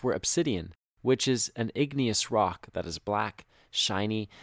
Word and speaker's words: igneous: lava are so hot igneous sounds like the word ignite so igneous rocks were